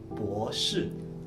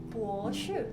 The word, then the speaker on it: 博士: 硕士 Nah, ini yang terakhir profesor itu kita bacanya S3, kita bacanya itu 博士. 博士 Nah, 博士.